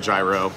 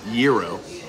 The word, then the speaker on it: gyro: got to try that so I pronounce it gyro I don't know if it's a New York thing but he said Pete it's Euro um tomato tomato right let's pull the whole